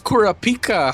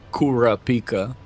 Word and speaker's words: Kurapika: Okay, don't tell me it's Kurapika because it's not Kurapika. That shit's like some American trying to say Kurrapika. I know Kurrapika.